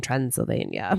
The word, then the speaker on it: Transylvania: scarier to be in Transylvania, I think. Yeah. And it rhymes with Pennsylvania.